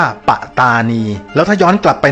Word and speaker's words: ปัตตานี: จาก คำ ว่า ประธานณี ต้อง อ่าน ออก เสียง ว่า ปะตานี แล้ว ถ้า ย้อน กลับ